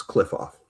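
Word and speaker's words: Qliphoth: It's like Cleef. I think it is. They pronounce like it QLI. I'm trying to figure out how to or something. Yeah, it's like QLIPPHOTH. It's cliff off.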